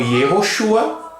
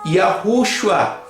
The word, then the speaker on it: Yehoshua: o nome em hebraico pode ser pronunciado como ierrochua conforme vocalização massorética ou com yarruchua segundo a vocalização mais coerente com a pronúncia do trigrama do eterno e contudo esses nomes